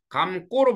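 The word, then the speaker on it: 감고: 자어감 고지 원래 감 고. 근데 발음 어떻게? 감 꼬로 발음해야지.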